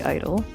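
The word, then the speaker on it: (G)I-DLE: First off, it was always supposed to be pronounced idle, but now it is officially officially Idol.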